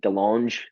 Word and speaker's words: DeLonge: it uh Tom Delong DeLonge how do you say that last name the long de longe got it yeah the French he's at the show